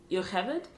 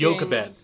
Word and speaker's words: Yocheved: Hebrew that Yocheved, I think is the way you pronounce her name, when she's singing to Oh, Moses I as she's looked putting that him in the up. basket, the translation... Yochebed, Huh? apparently. Yochebed. Apparently is the Yochebed. Hebrew No, pronunciation.